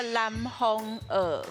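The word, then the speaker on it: 南方澳: 伊爱发音嘛叫做南方蚵，南方蚵啊，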